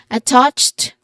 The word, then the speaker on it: attached: I find attached. It is stressed on the second syllable with a short a sound and uh a ch sound or ch sound like in church at the end.